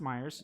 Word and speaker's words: Myers: I think Myers. It's pronounced Myers. Yep, Jasmine has the right pronunciation. Okay, so it is Myers.